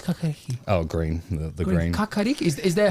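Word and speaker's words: kākāriki: Kakariki?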